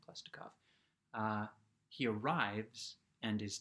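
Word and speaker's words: Khlestakov: of guy uh called klestikov klestikov k-h-l-e-s-t-a-k-o-v i'm going to call him klestikov but it's probably possibly more interesting pronounced more pronunciation than klaustikov uh he arrives and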